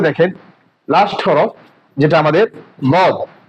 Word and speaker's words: ض: এই দদ হরফটি আমাদের উচ্চারণের মাখরাজ। এটা হচ্ছে 7 নম্বর মাখরাজ। এই মাখরাজ যে জিহ্বার গোড়া, জিহ্বার গোড়ার কিনারা, জিহ্বার গোড়ার কিনারা এবং উপরের মারির দাঁতের গোড়ার সঙ্গে লাগাই দিতে হবে।